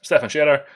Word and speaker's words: Stefan Scherer: This workshop was originally borrowed from Stefan Scherer. I think that's how I pronounce his name. Let me find him. I forget what his Stefan Scherer. Yes, Stefan Scherer.